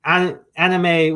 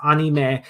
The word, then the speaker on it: anime: So, and anime, well, in Japan pronounced anime, but we've kind of made a comment to say anime here in the US, but we were all wondering, where did the term come from originally?